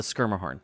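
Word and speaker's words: Schermerhorn: when we were at the skirmish and uh schumer horn i don't know anyway horn is the correct pronunciation nashville calls it the skirma horn we were there um to see susan egan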